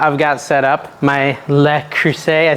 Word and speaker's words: Le Creuset: this little pot I've got set up my Le Creuset I say it wrong the French cast iron